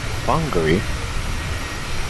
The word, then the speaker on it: Whangarei: Yeah, I've already butchered today's arrival airport. Whangarei, it's Whangarei.